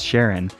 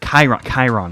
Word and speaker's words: Chiron: So I saw a comment about how, the way to actually pronounce Sharon, and it's like Chiron. I think that's how you actually pronounce that.